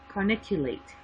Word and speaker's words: corniculate: Now these two, the arytenoid and the carotenoid, let me pronounce it better, corniculate, sorry.